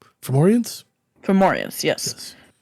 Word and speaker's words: Fomorians: For those for over the table, they are Foromans. Fomorians? Fomorians, yes. Yes.